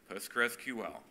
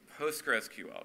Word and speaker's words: PostgreSQL: do you say it the official name of the project is postgresql p as as spelled and as capitalized on this slide postgresql postgresql just straight through it without without pauses or or